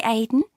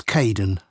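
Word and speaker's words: Kaeden: Uh it's Cayden. I'm so sorry. Oh, don't worry. People often get my name wrong. Haha. They never know how to spell it. It's k a e d e n, in case you ever need to write it.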